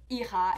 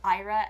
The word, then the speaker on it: Ira: canada people have always mispronounced my name for like iha instead of ira and like it's so